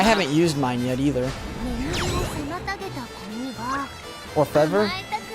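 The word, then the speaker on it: Orfevre: You'd pronounce it Orfev. Oh, you don't say the R? Orfev. I mean it's not like a R sound. It's the Orfev. Because their R is kind of like a mix between an L and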